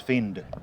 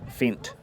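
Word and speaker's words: Fendt: they're they're the best so it's fend Fint Fint Fint thank you there my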